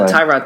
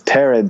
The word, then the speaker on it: Tyrod: yes that's it because everyone pronounced it ty rod taylor but i also heard from like you know the snobs that are like it's jif not gif or whatever pronunciation police you have out there that it's tered taylor not no it's not that i'm sorry